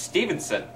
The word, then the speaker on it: Stevenson: It's not even how you say his last name. It's pronounced Stevenson. Fair enough.